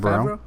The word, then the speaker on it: Favreau: Favreau.